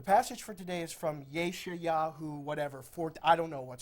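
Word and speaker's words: ישעיהו: to read from, and in Hebrew, it's Yeshayahu. So she said in this Christian school, she stood up and she said, the passage for today is from Yeshayahu, whatever, I don't know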